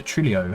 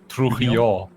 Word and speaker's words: Trujillo: Trujillo. Yes, because we don't say the L's.